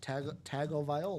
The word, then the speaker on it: Tagovailoa: Tago Viola. Spell it again.